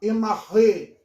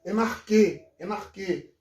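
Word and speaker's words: ἐν ἀρχῇ: Tem gente que prefere falar enarré. Enarré seria uma pronúncia mais erasmiana. Mas existe a pronúncia ática reconstituída, a qual eu gosto de usar essa pronúncia. Né? Enarquê. Já tem pessoas que preferem o enarri, que é o grego moderno.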